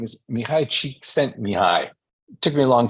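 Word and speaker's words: Mihaly Csikszentmihalyi: Okay, so this Hungarian guy's name is Mihai Csikszentmihalyi. It took me a long time to figure out how to pronounce that.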